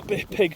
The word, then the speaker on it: Pyg: The Cambrian Way follows the Pig track. PYG is how you spell it, pig.